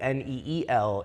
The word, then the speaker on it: Neel: So, uh, Neil, neel, it is an Indian name, but is it pronounced the same? It's pronounced the exact same. Neil.